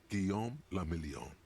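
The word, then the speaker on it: Guillaume Le Million: meant only one thing guillaume lamillion if it doesn't rhyme you're not pronouncing it right okay out of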